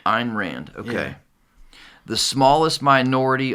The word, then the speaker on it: Ayn Rand: Is that I think it's pronounced Ayn Rand. Ayn Rand, okay.